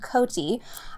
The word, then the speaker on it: Cote: And her last name is pronounced Cote.